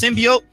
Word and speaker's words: symbiote: says because that is it is pronounced symbiote but the way that